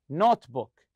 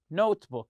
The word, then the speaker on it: notebook: So the word here, notebook, notebook. You stress the word note.